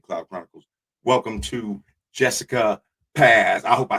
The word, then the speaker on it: Paz: It's Paz, but Paz.